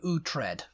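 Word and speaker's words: Uhtred: 50s yeah he met his birtha named William utre oh what but it's spelled o u t um h i e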